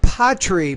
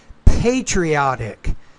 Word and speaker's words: patriotic: to not bad and I would say not Potter but pay patriotic and you pronounce the